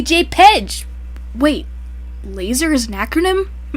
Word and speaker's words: JPEG: The P in It's JPEG not pronounced- stands for photographic, but I bet you don't say JFEG. P on its own doesn't sound like F.